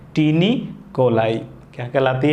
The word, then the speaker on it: taeniae: क्या है, ये संरचना टीनी कोलाई कहलाती है। क्या कहलाती है? टीनी। इसकी स्पेलिंग भी बड़ी स्पेशल है, आपको ऐसे याद रखना है, बड़ी special spelling, TAENIAE, tiny coli इसे कहते हैं।